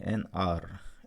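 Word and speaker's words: hour: ऐसे देखिए, एन आर, एच से शुरू है, फिर पर साउंड कैसा है? एच साइलेंट है, तो आर, आ की आवाज़ है, इट इज़ a vowel sound, तो हमने यहाँ पर एन लगाया है।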